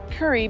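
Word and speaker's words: Kure: Cary? It doesn't look like that. It's spelled K-U-R-E, but it was pronounced Curry by, or Curry or Cary by one of the locals.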